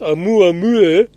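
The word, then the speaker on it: ʻOumuamua: And here's a quote: considering an artificial origin, one possibly is that Oumuamua, pronounced Oumuamua, and that's actually in this document if you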